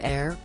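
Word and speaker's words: Aire: their little boy's name from Wolf to air pronounced heir a month after Kylie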